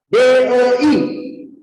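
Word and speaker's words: 得: Jadi di sini dia bacanya bukan te lagi. Dia harus baca DEI. Harus tambahkan i-nya.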